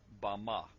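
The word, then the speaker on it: במה: in the Strong's Hebrew dictionary and it is pronounced Bama Bama is most commonly used to refer to a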